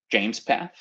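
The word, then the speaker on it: JMESPath: kafka delta ingest provides some or actually it's pronounced james path i learned recently uh some james path syntax for doing very simple transformations on the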